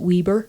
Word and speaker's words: Weber: So, without the second B, the first E becomes a long E.